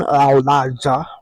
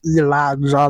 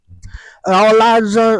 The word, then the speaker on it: Elijah: And we do say my name, Elijah. We don't say it like Elijah, like the whole world been programmed. Elijah is the correct way to say my name.